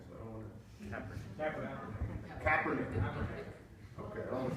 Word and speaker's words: Kaepernick: Am I pronouncing that correctly? Capernick. Capernick. I'm not a sports fan, so I don't want to Kaepernick.